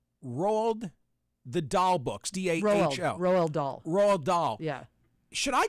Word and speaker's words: Roald Dahl: This comes after the editing of, how's the pronunciation of this? Roald the Dahl books, D-A-H-L. Roald Dahl.